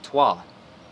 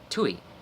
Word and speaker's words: Tui: And what's funny is that I actually pronounced it correctly. Most people, they'd see that and they'd say toi. But I just intuitively, unknowingly, intuitively said Tui.